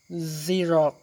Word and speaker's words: Xerox: people don't know that when X is at the beginning of the word in English, it usually sounds like Z. บางครั้งตัว X ออกเสียงพยัญชนะ Z เมื่อมันอยู่ในต้นประโยคเนาะต้นคำศัพท์ For example, xylophone, Xerox.